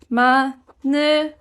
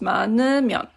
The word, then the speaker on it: 많으면: And again, pronouncing it, you can say it 많으면, like this. This hiet kind of always goes away in speaking. You don't really pronounce this one too much, so it's just 많으면.